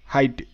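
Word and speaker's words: height: আই জি এইচ টি, এটা কিন্তু হেইট নয়, এটা আবার হাইট। এখানে কিন্তু এইচতে হওয়া আর ইআইজিএসটি আইট, এটা এরকম করে উচ্চারিত হচ্ছে। তো এটা তোমরা খাতায় লিখে রাখবে, এইচ ইআইজিএসটি, এটার উচ্চারণটা হাইট, আর এটা হচ্ছে ওয়েট।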